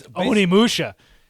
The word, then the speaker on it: Onimusha: And it was Onimusha? No. It's Onimusha.